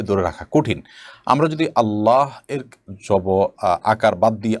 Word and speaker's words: আল্লাহ: দেখুন এটা ঠিক যে আরবি উচ্চারণের যে রীতি সে রীতি অনুপাতে আল্লাহ এ শব্দটার আগে যখন জবর বা পেশ থাকবে তখন সেটা একটু মোটা হবে মুখটা হালকা গোল হয়ে আসবে আর না হলে সেটা হবে সাধারণ স্বাভাবিক যেটাকে বারিক বলা হয় এখানে পোড় আর বারিক বলতে দুইটা আপনার আছে অর্থাৎ একটু মোটা হবে একটু চিকন করে হবে উচ্চারণটা র ক্ষেত্রে